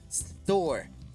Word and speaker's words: store: Recuerda comenzar desde la S y no con E. Store.